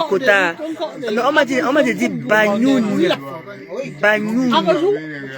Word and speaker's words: Bagnoum: Bagnoun. Il faut que je prononce le N là. Je dois prononcer le N apparemment.